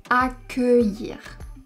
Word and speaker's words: accueillir: We will therefore pronounce "accueillir". Be careful, there is a small subtlety. Here we pronounce welcome with a closed E because it is not the last syllable of the word.